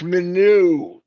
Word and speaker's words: Minnow: It's Minnow, Norel. Minnow. Right now, Norel's going, I know that. It's Minnow. That's how you say it. That's how she wants.